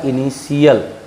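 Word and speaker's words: initial: अब यहाँ देखिए टी के बाद आई ए आया है, इसलिए इसका उच्चारण होगा इनिशियल।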